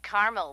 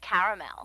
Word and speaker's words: caramel: what I said Tina actually you said Carmel when it's pronounced caramel can't we just call